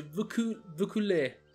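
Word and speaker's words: Vaucouleurs: Oh, attenzione, Vaucooler, si legge Vaucooler.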